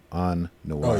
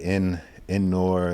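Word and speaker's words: En Noir: On Noir. Oh yeah. So some people say in Nor, like I thought it was in Nor. Yeah, I think it's On Noir.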